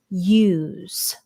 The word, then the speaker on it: use: The S here is the sound of Z. Remember, S has 2 sounds. S, Z. Okay, it's the second sound.